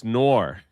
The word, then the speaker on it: Noir: It's Noir.